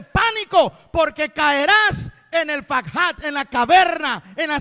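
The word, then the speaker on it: פחת: Fakhat. En vez de P, póngale una F. En vez de pakhat, ahora es fakhat.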